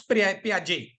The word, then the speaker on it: Piaget: Okay, you have to pronounce Piaget.